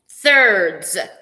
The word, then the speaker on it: thirds: he's having trouble thirds thirds okay it's put your tongue between your teeth surd's and don't spit on anybody mm-hmm all right when